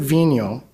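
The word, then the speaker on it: Vigneault: name we've all been debating about how to pronounce it properlyo all right so David Vino he stated that at no point of the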